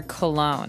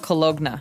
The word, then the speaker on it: cologne: ends with uh it it's spelled c o l o g n e so you don't really say the g it's not cologna right it's cologne and it's something that you